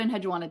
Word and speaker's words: Enheduanna: cool um so there are so essentially what in hedgewanna did and had you yeah i said it